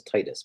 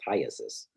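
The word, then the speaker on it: elephantiasis: Everybody says Titus, but it's Tyasis as GD said.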